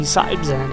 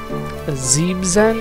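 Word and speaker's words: Siebzehn: It's not the Sibzen as I've been calling it the entire time. It's actually called the Xebzen, I believe is how it's supposed to be pronounced.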